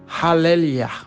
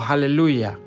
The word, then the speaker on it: aleluya: La palabra aleluya se forma de 2 palabras, halel y ja. Y se pronuncia algo así como halelia o aleluya. Y nosotros decimos en español aleluya.